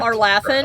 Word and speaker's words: Arlathan: You know how in Origins, the pronunciation of Arlathon was different? Oh, Arlathan, like yeah. Everybody would just pronounce it differently. Yeah, it was Arlathon, Arlathan.